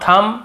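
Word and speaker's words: thumb: लेकिन ज्यादातर आप देखेंगे ये सब वर्ड्स में हम एम का बी का उच्चारण नहीं करते हैं। कॉम्ब थंब डम थंब ऐसे बोलते थे।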